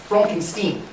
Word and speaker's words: Frankenstein: that's frankenstein my name is pronounced fronkenstein if you say so